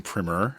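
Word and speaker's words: Primmer: last name is weier I'm primer and uh like primer with two M's nobody cares but anyways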